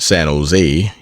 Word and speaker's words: San Jose: Been down to San Jose, generally pronounced San Jose, emphasis on last silver.